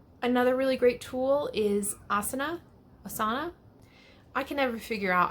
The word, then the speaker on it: Asana: Another really great tool is Asana. I can never figure out how they pronounce it.